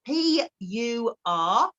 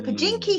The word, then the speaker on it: Purkinje: And for those of you that are sitting with your pen, I'm going to spell it out. These cells are called Purkinje cells. So Purkinje.